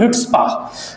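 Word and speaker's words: chutzpah: और इसके लिए एक वर्ड होता है सीडी में पूछा गया था हिटपा। सी एच यू टी जेड पी एच इसे इसमें सी साइलेंट रहता है तो इसलिए बोलते हैं हम हिट स्पा सी एच यू टी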